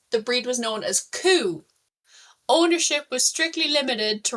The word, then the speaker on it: cú: In Irish, coo, pronounced coo, means hound or greyhound.